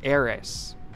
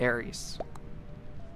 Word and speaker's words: Eris: It's Eris. The E is pronounced like an I.